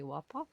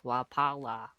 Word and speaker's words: Wapala: You said Whopper. No. It's Wapala.